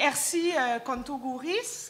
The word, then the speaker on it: Ersy Contogouris: Et Ersi Kontogouris, on le prononce.